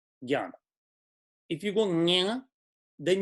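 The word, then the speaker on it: ज्ञान: Please, for South India, how do we say the word gyan? We tend to say jnanam, but when you do nya, you spend a little extra time on that syllable, and that breaks the rhythm again. So I do believe that the correct way is gyan, like ga plus ya almost, gyan.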